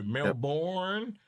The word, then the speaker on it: Melbourne: because of the way they say Melbourne. because they'll go Melbourne and and the B is really really quiet. Melbourne. Melbourne. Yeah. It's And it's not born, it's been. We almost say it like it's been.